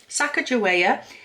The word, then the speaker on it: Sacagawea: up and uh to find out how to pronounce it properly Sacagawea and the prompt for that was something that